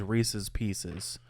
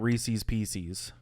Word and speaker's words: Reese's Pieces: Reese's Pieces mhm and the correct pronunciation of that is Reese's Pieces they're not Reese's Pieces Just so is that